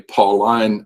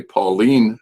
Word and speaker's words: Pauline: And I do not say Pauline epistles, I say Pauline epistles, and etc. I don't pronounce the I-N-E as ein, I pronounce it een.